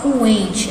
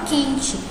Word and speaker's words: quente: No caso aqui do quente, a gente não fala coente, né? A gente não pronuncia o U, a gente fala quente. É como se esse U nem existisse, né? Como se fosse só o Q e o E.